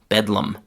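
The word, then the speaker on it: bedlam: utter chaos and also gradually people began to pronounce the word Bethlehem in a faster, shorter, lazier way. And the final pronunciation was shortened from Bethlehem to bedum.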